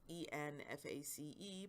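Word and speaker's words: en face: It's written there as E-N-F-A-C-E, but it's pronounced en-face staring.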